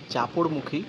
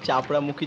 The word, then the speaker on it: চাপড়মুখী: ভাই আমি তোমাদের কাছে আগেই ক্ষমা চেয়ে নিচ্ছি, আমি কিছু কিছু জায়গায় চাপড়ামুখী জংশন বলেছি, আমাকে ক্ষমা করে দিও, উচ্চারণটা একটু ভুল করেছিলাম আমি, ওটা চাপড়মুখী জংশন হবে। আর এদিকে ভাই সৌন্দর্যের কিন্তু কোনো কম নেই।